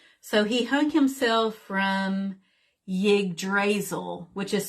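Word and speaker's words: Yggdrasil: of the tree so he hung himself from yig drazel which is spelled y g g d as in delta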